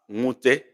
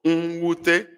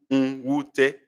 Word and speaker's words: nwute: Please, this is not pronounced as nwute. No, nwute. It is not NW as alphabet, but NW as separate. N and W. Okay? So they are not nwe, is nwu, nwute. They are different.